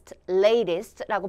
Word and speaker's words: latest: 해서 latest라고 발음해 주시고 이때 L 발음 좀 신경을 써주시고요.